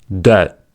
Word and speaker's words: debt: Second, B is usually not pronounced before T. These are examples: debt, doubt, debtor, doubtful, subtle.